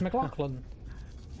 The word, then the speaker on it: McLaughlin: Yes, McLaughlin.